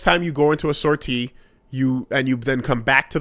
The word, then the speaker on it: sortie: What, are you going to tell me it's sortie? You have some other weird English pronunciation of sortie?